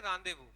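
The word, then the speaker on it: rendezvous: तो this is what, it इज a French word, ये एक फ्रेंच वर्ड है। इसको अपन लोग क्या प्रोनाउंस करते हैं? इसको अपन लोग प्रोनाउंस करते हैं रांदेवू, ठीक है ना? फ्रांस के अंदर ये जो जेड है, ये जेड क्या होता है? ये जेड इज साइलेंट, ठीक है ना?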